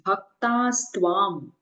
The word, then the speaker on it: भक्तास्त्वं: In the first line, it is bhaktaastvam. Both ka and sa is of long sound, so we have to pronounce it like bhaktaastvam.